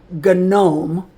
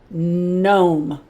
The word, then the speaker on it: gnome: This G with an N, the G is silent. It doesn't talk. Only the N is going to talk. This is not a gnome.